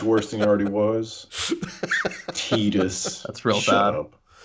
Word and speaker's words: Tidus: And also discovering that Tidus is actually Tidus. Oh my god, Tidus. Tidus. Ugh, that Yeah. makes him so much worse than he already was. Tidus.